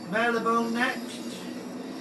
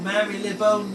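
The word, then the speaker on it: Marylebone: whether you've been noticing M bone neck or Mary Leone whichever way you want to pronounce it Boneyard it' be better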